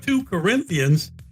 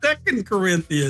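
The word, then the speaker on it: 2 Corinthians: lost me before this, but when he said two Corinthians, it was like, "Oh, this guy's never been in church.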